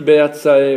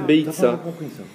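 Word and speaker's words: ביצה: Le E ne se prononce pas. Il est muet. C'est une consonne, il n'y a pas de voyelle, c'est une consonne. D'accord, Donc c'est Beitsa.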